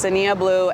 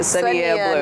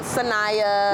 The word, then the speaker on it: Sania Blu: I know people love to say different pronunciations, but it's literally Nia with a S in front of it. Sania Blu. Not Sanaya. Not, not Sonia, not Sania. Sania Blu.